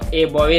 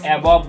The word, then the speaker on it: above: लेकिन इसका उच्चारण ए बॉवे नहीं होगा। भले इसका मतलब 12 खड़ी के अनुसार से ये ए बॉवे बन गया, लेकिन इसको एबॉब बोलते हैं।